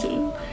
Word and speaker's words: Dỹ: (well except for the youngest brother lol) My grandfather's family's names all start with a 'D' (pronounced like a "Z") My great-grandpa's name was Dỹ (sounded like Zee) Hence, I want to